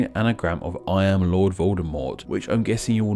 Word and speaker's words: Voldemort: First off, being that Rowling herself stated that the T should be silent, making it sound like Voldemort, not Voldemort.